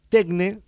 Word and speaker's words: Tekne: Rigoberto es el CEO y el fundador de Tecne. No Tecne, sino Tecne. Tecne, Tecne, sí. Ok, porque la versión griega es Tecne. Es Tecne, sí, sí.